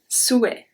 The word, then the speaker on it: souhait: And the last one, un souhait. Un souhait. Souhait. Un souhait. Remember that AIT at the end of a word make the sound E? So it's un souhait. Souhait.